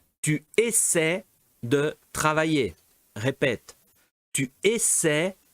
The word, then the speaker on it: essaient: Et F, attention, ils essaient. Ils essaient d'écrire une lettre. Ou elles essaient d'écrire une lettre. D'accord? Non, é essayante. Ou essaye. Essayante. Non. Essaie. Dois sílabas. Essaie.